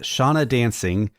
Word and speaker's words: Seona Dancing: So honorable mention to Ricky Gervais and his singing career before he started acting with Shauna Dancing. It's spelled Seona Dancing.